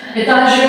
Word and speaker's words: Etage: Etage, obviamente, en español alemán, esto viene del francés, ¿ya? La cosa del alemán siempre pronunciamos la E final, ¿ya?